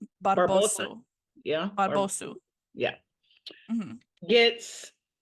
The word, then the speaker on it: Barbosu: I'm gonna mispronounce Barbosa. Barbosu.